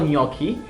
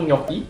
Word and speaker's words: gnocchi: Next, we have the antipasti from Squisito, the truffle gnocchi, and the seafood black ink pasta.